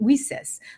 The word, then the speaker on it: WiCyS: We often go by our acronym, and we spell that WiCyS and pronounce it WiCyS, like we sisters, because that's exactly what we are.